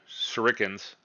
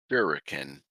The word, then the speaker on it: shuriken: So, you accidentally get hit by a a shiken or a seren shuriken. I believe like sure it can.